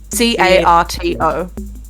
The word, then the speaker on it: Carto: Carto. Yeah. Shuts up. Like cartographer.